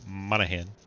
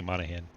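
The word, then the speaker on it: Monaghan: You notice how I pause every time I start to say Monahan. I'm like thinking in my head while talking, which one's silent? The G is silent. A silent G sound.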